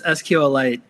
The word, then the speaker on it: SQLite: can you describe what SQL light is and I don't think I'm really pronouncing that wrong right is it's SQL light right yes it's sqlite kind of like a mineral so sqlite is is